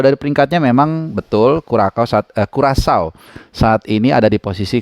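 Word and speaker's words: Curaçao: Nasional Indonesia menghadapi kurasau ya bacanya kurasau yang akan berlangsung Hari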